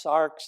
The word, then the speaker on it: Sartre: we find such loss John Paul SRA sometimes he's pronounced SARS the same philosopher he